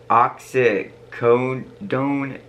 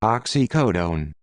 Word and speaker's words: oxycodone: this theory says that the rev overdosed on oxicon oxymorphine dizzy pant dizzy pam nort nordisia pam and alcohol i totally screwed up those pronunciations let's actually listen to what it really was oxycodone oxymorphone diazepam nor diazepam all right yeah i